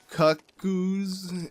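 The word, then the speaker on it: Cucco: bok-goo blends so yeah same thing with cuckoos I call cuckoos but I'm gonna try to just call him cut goos if you know just just so I feel like I'm pronouncing it the way everyone else pronounces it you know when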